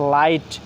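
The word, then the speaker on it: light: সেই অংশটুকু উচ্চারণ আই এর মত হবে। কিসের মত হবে? আই এর মত হবে। যেমন হচ্ছে লাইট।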